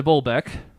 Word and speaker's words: Bolbeck: my name's de Bolbeck. There's a D-E space, so you know it is Le French. Even though it's not actually, but de Bolbeck? de Bolbeck. Sure. Rhymes with Quebec.